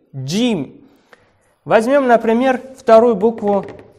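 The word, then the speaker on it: جيم: на русском написала бежим так как у нас русском языке нету с буквы g g поэтому джим написал но произносить ее надо так джим дим возьмем например вторую букву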